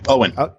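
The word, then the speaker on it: Eoin: call fur that explores the UN right yeah Owen Owen okay Owen that explores the plight of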